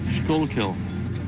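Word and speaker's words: Schuylkill: How would you pronounce that? Skullkill.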